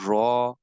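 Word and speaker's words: ر: This volume will has to strike here, and raw will has to be announced, will has to be pronounced from here.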